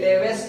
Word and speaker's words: Leveche: Spain में लेवेस, CHE spelling है last में, लेकिन लेवेस कहेंगे, LEVECHE, लेवेस।